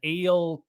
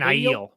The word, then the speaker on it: Aiel: It unveils an eel corpse. Is that how do you pronounce it? An Aiel. Aiel. That's right.